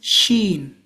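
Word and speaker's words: شين: Then the next one is sheen. Sheen. Like sh a shh.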